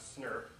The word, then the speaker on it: snRNP: Each of these complexes is called an SNRNP, which people often pronounce SNRP.